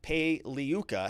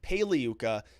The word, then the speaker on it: Pagliuca: that, or asked Jeff Pagliuca, how do you say your name there, Jeff? And he said the G is silent like lasagna. So it's Pagliuca, not Pagliuca. So it's like lasagna.